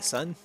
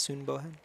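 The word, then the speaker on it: Sun Bohan: Uh, son or soon. Soon is actually how it's pronounced. Soon Bohan.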